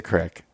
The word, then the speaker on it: creek: all right okay correct that's not how you spell it that's how you say it now anyway it is a crack if you read it it's Creek that's just I don't know that's that's the way we've learned that in Pennsylvania but anyways all right